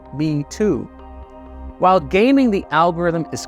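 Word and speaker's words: 米兔: So internet users use the phrase rice bunny, which is pronounced in Chinese as Me Too.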